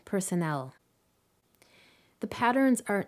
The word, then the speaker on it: personnel: syllable and so on the stress falls on the first syllable in hospital the second syllable in prescription and the third syllable in personnel the patterns are not